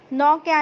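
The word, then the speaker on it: knock: ने होता है खटखटाना लेकिन नॉक में जो के है वह साइलेंट रहेगा ठीक है यह बहुत ध्यान रखने वाली बात है शुरू तो कैसे होगा लेकिन के ही साइलेंट ले रहेगा फैलावट दोनो की स्पेलिंग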